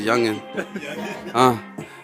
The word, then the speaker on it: Yugen: Yugen. I pronounce it as Youngin.